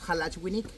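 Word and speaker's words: halach winik: as the Maya school halaj winik who you pronounce halachwini hello everything how to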